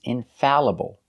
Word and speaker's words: infallible: or being wrong infallible the correct pronunciation is infallible normally Al makes the sound all like ball call and fall but there are some words that are pronounced differently they are spelled Al L but they are pronounced a like apple so the sound is Al